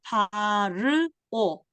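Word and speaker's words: פַּרְעֹה: 이 단어 파르오 요 위에 홀람 있죠? 그래서 오예요. 끝에 헤이 발음 안 하고 파르오 레 파르오 바로에게 행하는 것.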